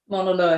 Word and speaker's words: Mauna Loa: for, I forgot to ask you how to pronounce that. Is it Mauna Loa? Mauna Loa helicopters.